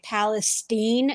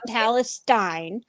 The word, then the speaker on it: Palestine: And that is how you pronounce it, by the way. Palestine, not Palestine.